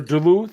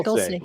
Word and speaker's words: Dulce: Or Duluth, or I don't know how you say it. Dulce or Duluth? Dulce is the way I... Dulce. There you go.